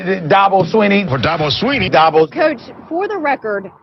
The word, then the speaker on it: Swinney: by dabba swinney and i know it's spelled swinney but it's sweeney don't ask me why i have no idea but that's how you say it they have some crazy